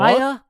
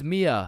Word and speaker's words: Mia: Maya? Is Maya present? It's Mia.